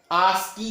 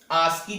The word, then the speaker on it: ASCII: इसको हम लोग शॉर्टकट में आस्की के नाम से भी जानते हैं, प्रोनाउंसिएशन में आस्की भी बोल देते हैं, वो भी सही है.